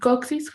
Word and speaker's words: coccyx: And then in coccyx, how do you say coccyx in English? The same you're telling coccyx.